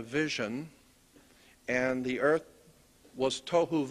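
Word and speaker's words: תֹהוּ: Pronunciation, it would be T-O-E hyphen W-H-O, tohu. That's not the way it's spelled in Hebrew, but that's the way it's pronounced. T-O-E W-H-O, tohu.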